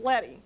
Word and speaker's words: leading: it looks like leaving but it isn't it's pronounced letty so now you all know you can be very sophisticated and you see that in your desktop publishing book and someone calls it lady and you can say no no no it's